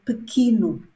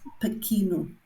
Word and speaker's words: pequeno: Now this word, so many people have problems with this word and they say it incorrectly. They say pequeno. It's not pequeno. It's pequeno, pequeno, pequeno, pequena, pequenos, pequenas.